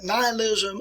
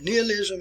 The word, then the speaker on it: nihilism: It can be pronounced nihilism or nihilism here.